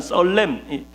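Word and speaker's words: צלם: 성경에서 히브리어로 형상이라는 썰렘, 꼭 발음이 설렘 같죠.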